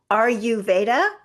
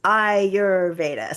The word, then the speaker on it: Ayurveda: thank you and a lot of people say are you that's not it it's iurda so I always think